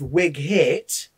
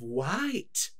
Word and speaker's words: Wight: about the isle of wig hit is that the g is silent i wish you were